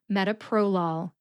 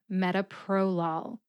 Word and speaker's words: metoprolol: Metoprolol. Metoprolol. The first syllable, met, gets the secondary emphasis.